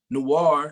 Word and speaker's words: noir: it's a memoir and noir you know i it rhymes with memoir i'm a rhymer uh